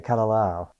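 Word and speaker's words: Kalalau: And so you both hiked the And I'm probably going to mispronounce this, too. The the Kalao Trail in Kauaii. Yeah. The Kalao.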